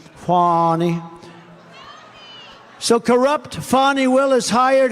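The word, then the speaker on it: Fani: fonnie well it's now even though it's I believe it's spelled f an i to my way of thinking that's Fanny but when she became the district attorney I think she put a little emphasis on the U fonnie so corrupt fonnie Willis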